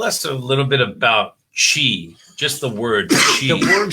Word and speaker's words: qi: the word she okay so she pronounced uh you know it sounds like the uh the word is q-i that's the way i like to spell it that's the chinese way uh some people spell